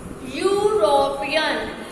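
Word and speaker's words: European: इसको प्रोनाउंस करो, dash यूरोपियन, यूरोपियन, you sound किसकी आ रही है, यूरोपियन, यू, Y double O, और वाई क्या है हमारा, वाई तो हमारा कॉन्सोनेंट है, तो क्या कॉन्सोनेंट से पहले एन आता है, नो बिल्कुल भी नहीं, ठीक है, तो इसके आगे हम क्या लगाएंगे, ए यूरोपियन, बिकॉज लिखा हुआ तो ई है, हमें लिखे हुए को नहीं देखना, हमें तो बोल के प्रोनाउंस करके साउंड चेक करनी है, ठीक है।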